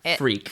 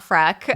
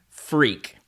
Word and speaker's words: freq: f r e q freak freak not frack not frick that was shocking to